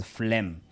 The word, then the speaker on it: phlegm: isolate it okay yeah if you're told to identify the silent letter that yeah so just isolate it and tell us that because that word is pronounced as as phlegm then for guided dialogue